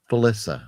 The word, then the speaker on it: Felissa: and you're thinking you're saying it wrong. Felissa, sir.